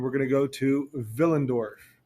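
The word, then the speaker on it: Willendorf: going to go to vill andorf spelled with a W pronounced with a v vill andorf here is the archaeological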